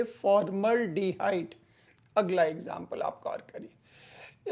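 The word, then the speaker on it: formaldehyde: ऐड कर दीजिए एल्डिहाइड तो इसका प्रोनाउंसिएशन होगा फॉर्मल्डिहाइड, इसके उच्चारण होंगे फॉर्मल्डिहाइड।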